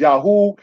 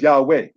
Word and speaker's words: Yahweh: Elephantine Island had a temple that was dedicated, brothers and sisters, to who some would pronounce as Yahoo, some will pronounce as Yahweh.